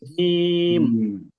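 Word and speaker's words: جيم: দেই একটা দেই তাহলে এটার নাম হয়ে যাচ্ছে জিম জিম এটা একটু শক্ত আওয়াজ হবে যেমন আমরা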